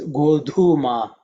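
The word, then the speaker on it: godhūma: uh Mantra is chummy in terms of pronunciation the second letter is dhu which is the fourth letter in the third so it has to be aspirated okay so it's goldhuma means wheat in Tamil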